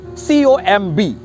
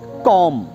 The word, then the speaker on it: comb: Similar pronouncing words are COMB, here also be silent and the correct pronunciation is कॉम, COMB, com.